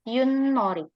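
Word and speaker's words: 윷놀이: Bacanya Yunnori.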